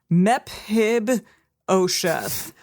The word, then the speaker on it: Mephibosheth: You don't think that P and H makes an F sound? Mephibosheth. Mephibosheth?